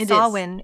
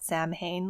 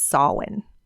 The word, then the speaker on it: Samhain: know it's it's spelled Sam Hayne like the Danzig band if you are from the 90s but it is actually pronounced in Gaelic as sawin yes so to me